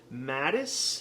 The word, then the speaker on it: Madis: Madis, I think it's pronounced, Madis Coffee.